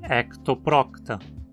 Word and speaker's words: Ectoprocta: Em entoprocta, a penúltima sílaba termina em consoante, então obrigatoriamente leva o acento. Entoprocta. Mesma coisa com ectoprocta. No filo dos nemertinos temos